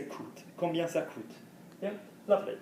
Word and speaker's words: coûte: We say coûte. Combien ça coûte? Yeah? Lovely. You pronounce the T, right? Yes, why? Because what's after it? Vowel.